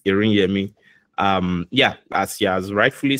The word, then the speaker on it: Iriyemi: But yeah, thank you so much for pronouncing it very well. Accurately, it's Iriyemi.